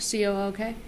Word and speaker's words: Cook: But Cook, C-O-O-K? Koch. Oh, Cook. Cook. It's pronounced Cook? Yeah. Okay, all right.